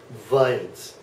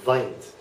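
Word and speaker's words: Wind: And then the W sounds like a V. So in the word, I just lost my train of thought, like vint, okay? It's basically like the English word wine, which you're whining, but it's pronounced like a V, so vint, all right?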